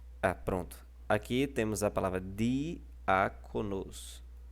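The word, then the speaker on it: διάκονος: Vocês podem reparar que o alfa está levando o acento agudo, e o alfa é a antepenúltima sílaba, porque a última é a sílaba nos, a penúltima é co, e a antepenúltima é o al, que é mostrado aí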